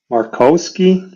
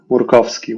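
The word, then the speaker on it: Murkowski: Alaska that won right Lisa she has a Polish last name Lisa marosi you guys said it morovsky would be the proper way to say it she won VR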